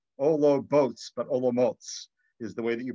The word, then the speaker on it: Olomouc: that live in olomoucs that it actually is pronounced o lo motes like ologboats but olomouts is the way that you pronounce it in